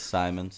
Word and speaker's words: Simons: said simon yeah if it's spelled like science yeah it's simon's dumb anyway um i